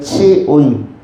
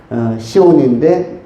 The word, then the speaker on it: 시온: 시온이라는 것은 히브리어로는 치온이라고 발음합니다. 헬라어로는 시온, 그리고 히브리어로는 치온, 치아할 때, 이빨 치아할 때 치온하면은 이것이 히브리어로 시온인데 의미는 햇빛이란 뜻입니다.